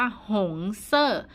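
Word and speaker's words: 红色: เซ่อ สะเออ เซอร์ ๆ เสียง ที่ 4 เซอร์ เพราะ ฉะนั้น คำ นี้ อ่าน ว่า หง เซ่อ วัน นี้ เรา จะ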